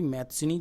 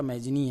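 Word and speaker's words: Mazzini: इसी समय इटली में एक क्रांतिकारी हुआ था, ज्यूसेपी मैत्सिनी, जिसे मैजिनी भी कहा जाता है। इंग्लिश में प्रोनाउंसिएशन जो है बनता है इसका मैजिनी है।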